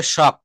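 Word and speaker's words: shock: আচ্ছা আমরা অনেক সময় বলি না গ্রামে বলে কারেন্টে শর্ট করেছে। নো এটা উচ্চারণটা হবে শক।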